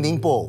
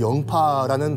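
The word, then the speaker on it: 寧波: 그 장소는 저장성에 있는 닝포, 우리 발음으로 영파라는 도시죠.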